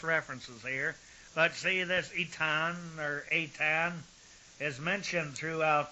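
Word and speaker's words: Aetna: laid him below Mount itan that's spelled with a AE t n but the a apparently is uh silent now we find this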